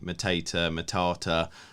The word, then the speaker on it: Mateta: You can say Matata. What do you say, Ben? I say Mateta, and I have him starting ahead of Edward.